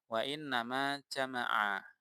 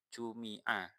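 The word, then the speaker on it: جُمِعَ: Jadi apalagi jangan dibaca wa nama jama'a. Nah, ya yang menjamak siapa, yang mengumpulkan siapa, kan tidak disebutkan failnya di sini. Maka yang paling tepat ini dibacanya mabni majhul yaitu dengan passive voice ya, dengan kalimat pasif jumi'a dan dijamak.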